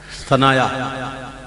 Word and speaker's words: ثنایا: آنکھ سے نہیں ہوتا۔ یہ ہے عربی والا ثنایا، جس کو سنایا بھی کہتے ہیں، لیکن اصل تلفظ ثنایا ہے۔ المنجد میں دیکھ لیجئے